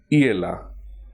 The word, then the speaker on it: hiela: Hence, the present indicative form is hiela. H is silent.